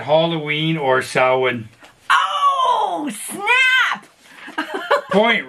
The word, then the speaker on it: Samhain: I said Halloween or Samhain.